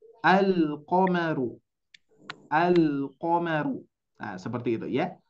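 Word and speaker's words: ٱلْقَمَرُ: Maka dari itu Bapak Ibu sekalian, kita harus betul-betul memperjelas bacaannya. Lamnya harus dibaca. Al-qamaru.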